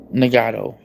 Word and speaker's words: Nagato: It's pronounced how it looks. Okay. Nagato.